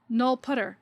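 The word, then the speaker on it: nullptr: have a language keyword null pointer or null putter as many C++ folks pronounce it to kind of distinguish it from the ordinary English word null pointer this keyword is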